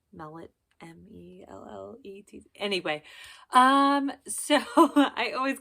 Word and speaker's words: Mellett: I think that's how you say his name, Mellett, M-E-L-L-E-T.